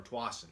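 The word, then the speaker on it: Tuason: You can look in the little search and put Rock Island Martin Towson, or Twasson, as that's pronounced, and you can look at it.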